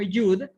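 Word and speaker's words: יוד: En algunos casos también se le puede nombrar como yud porque la vav puede ser tanto una O como una U. En algunos casos suena como yud y en otros casos suena como yod. Ambos pueden utilizarse.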